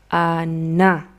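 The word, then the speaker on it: она: Entonces aquí tenemos como dos sonidos de una A y si tuviéramos tildes en ruso, pero no es así, tuviéramos una tilde en la última A. Entonces en la última sílaba.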